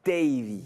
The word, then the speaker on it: Davy: Par contre, on a bien prononcé ton prénom, hein, Davy. Hein. Davy.